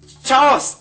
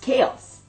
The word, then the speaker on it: chaos: together and you get Charles Charles no it's pronounced chaos chaos correct now let's get